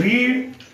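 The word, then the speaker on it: read: help इथे इडी लागलं रीड रीड रीड ची स्पेलिंग सारखीच आहे पण उच्चार मात्र वेगळा झालाय रेड राईट रोट लिहिणे लिहिले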